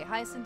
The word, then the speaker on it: Hyacinth: I've seen the word many times, but I've never heard it pronounced. Okay, Hyacinth is correct.